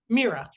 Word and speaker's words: Mirah: Mirah on the first syllable.